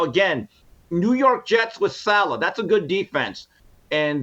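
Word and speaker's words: Saleh: Would you call the Jets coach Salad? Salad. You call the Jets coach Salad or No. Robert Salah?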